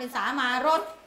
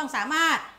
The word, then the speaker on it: สามารถ: รส สามารส ไง เวลา บาง คน อ่าน ว่า สามารถ เนี่ย อ่าน ผิด อ่าน เป็น สามารส จริง ๆ ต้อง สามารถ นะ คะ 8 ประกาศ ตัว